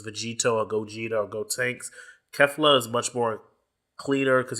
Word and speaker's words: Kefla: I know it's pronounced Kefla, but I do say Kefka because Kefka is the villain of Final Fantasy VI, and I think that's a better way of pronouncing it, even though it's not spelled the same.